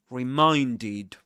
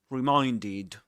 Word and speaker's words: reminded: It ends in this sound, the d consonant. So when you conjugate the verb in the simple pasts, you pronounced the ed ending as ed. Reminded. Reminded. Okay, reminded.